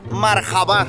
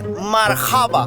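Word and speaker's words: مرحبا: Now they are correcting me here because they told me it was "Marhabá" and it's "Marhaba".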